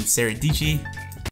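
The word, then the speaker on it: Sara Dietschy: originally got inspiration from saradici rhymes with peachy is that how it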